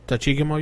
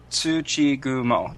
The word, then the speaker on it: Tsuchigumo: I have to go a little slow, but Tsuchigumo is another word for the goblin spider. And from what she knew... Tachigumo, you said? Tsuchigumo. Tsuchigumo, okay. Yeah, goblin spider. Yes. I pronounce it goblin spider.